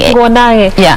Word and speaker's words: Nguo Nage: Pronunciation. Nguo Nage. In Kikuyu like that.